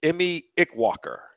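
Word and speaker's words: Eme Ikwuakor: Now, here's one I actually looked up on YouTube how to pronounce his name. It's Emmy Ickwalker.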